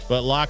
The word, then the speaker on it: LOQ: Well, it never really was, but Lock series is more of like a budget gamer line. LOQ is how it's spelled.